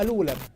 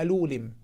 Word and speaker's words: Alulim: طبعا أولا هو ليس اسمه ألولم، لا يعرف ينطق أسماء الأعلام السومرية جيدا، اسمه ألولم.